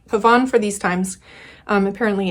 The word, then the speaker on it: pavane: um yeah I've been calling it pavane uh and old habits die hard so it might slip out every now and then but um I do I do value correct pronunciation of words um especially um just I I do so I'm going to try to call this paban pavon for these times um